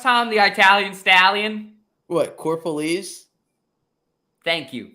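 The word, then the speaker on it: Corropolese: knew how to pronounce it right can you pronounce it correctly for us Tom the Italian Stallion what core police thank you core police there you go but I'm Mike you tried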